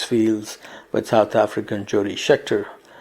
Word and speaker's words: Scheckter: with South African Jody Scheckter, or as Arie Luijendijk would say Schechter, which probably is the correct pronunciation of this name anyway.